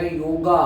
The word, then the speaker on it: योग: तो उसमें वर्ड आएगा योगा वाई ओ जी ए लेकिन हिंदी में उसको बोलते हैं योग संस्कृत में भी योग उच्चारण करते समय ए जुड़ जाता है इसलिए स्पेलिंग में योगा हो गया है तो आरंभ कैसे करें